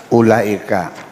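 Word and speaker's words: أولئك: Ini bacanya apa ini? Ulaika. Wawunya ada gunanya enggak? Ulaika gitu. Maksudnya apa? Ula. Yang dibaca ada wawunya dibacanya pendek. Yang tidak ada alifnya dibaca panjang.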